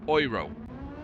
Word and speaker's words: Euro: So correct as it as it is pronounced Oro which is I find terrifically ironic I have to say.